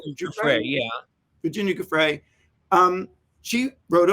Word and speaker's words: Giuffre: Virginia Giuffre? Giuffre, yeah.